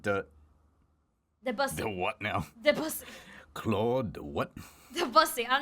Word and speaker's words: Debussy: It is Debussy. That is this. There's a different pronunciation for their name, but it is widely known that is literally Debussy.